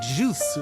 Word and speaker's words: Zeus: And and and Zeus, they would have said it more like juice. Like juice.